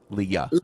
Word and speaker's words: Leah: thinking about I want to make sure I pronounce it right is it just Lee Leah Leah okay Le Leah Leah okay so so for